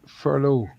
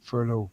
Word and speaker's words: furlough: belt for a lot but I now believe pronounced furlough oh no no no believe it or not